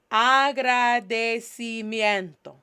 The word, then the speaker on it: agradecimiento: Agradecimiento. Agradecimiento. Agradecimiento. Agradecimiento. En español se escribe, in Spanish, this is how we pronounce or spell out this word, Agradecimiento.